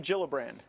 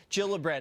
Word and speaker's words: Gillibrand: here all right so kirsten gillibrand not gillibrand it's a soft shade now the Minnesota woman